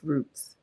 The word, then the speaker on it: route: I pronounce it safe Roots right um because from where right in and from where I'm from in Philly we say root like root 66 root one but I now live